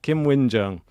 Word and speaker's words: Qinwen Zheng: So we will now be pronouncing it like that. Qinwen Zheng.